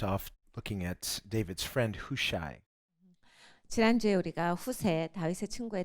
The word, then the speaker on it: Hushai: Last week we left off looking at David's friend Hushai. 지난주에 우리가 후세 다윗의 친구에 대해서 보았습니다. And how do you pronounce it? 후세. Hushai.